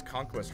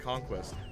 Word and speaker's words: conquest: best yeah word uh you pronounce conquest wrong you pronounce it like conquest but it's it's pronounced like conquest kh3 ironically never got